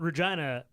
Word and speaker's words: Regina: Regina rhymes with fun."